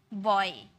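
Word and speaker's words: boy: पढ़ते हैं ठीक है ओ वाई को ओ में पढ़ते हैं जैसे बॉय ओय बॉय ठीक है ओ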